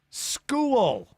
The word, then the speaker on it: school: Well, this hour's keyword is school. Hey, there's a silent H in there. Don't forget it. SCHOOL.